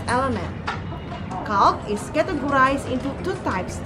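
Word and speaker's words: calque: their procedures and number two is okay it is spelled c-a-l-q-u-e cal is a special kind of borrowing whereby a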